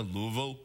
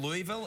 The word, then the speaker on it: Louisville: say, oh, you're from Louisville? And they're like, don't say it like that! Well, they kind of slur it. It's like Louisville. Louisville.